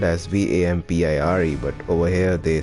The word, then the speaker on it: Vampyr: with the very start so it's vem fire but they say it has vampire maybe i have